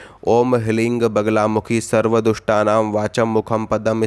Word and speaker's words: ह्लीं: है वो है ह्लीं, यानी कि ह ल रींग ह्लीं, यानी कि इसमें जब आप जप करोगे तो जो रा है वो साइलेंट हो जाता है, तो सिर्फ ह्लीं का उच्चारण निकलता है मुख से।